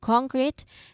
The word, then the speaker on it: concrete: written in the contract concrete in a way that we stress on the first syllable still here a concrete